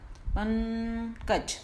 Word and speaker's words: पंकज: अब पंकज में जब हम बिंदी का प्रयोग करें, उच्चारण करेंगे, तो प बोलने के बाद जो ये बिंदी का साउंड है केवल नाक से आएगा, पंकज।